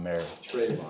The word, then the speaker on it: Moehrig: merry merry merry christmas first name yeah trayvon mayor yeah yeah appreciate that no it's all good